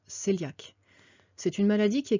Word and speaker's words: cœliaque: Alors ça s'écrit coéliaque, mais en fait ça se prononce cœliaque.